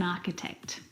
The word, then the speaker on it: architect: like stomach and ache the CH in all of these words is pronounced like a C Sound my brother is an architect he went home early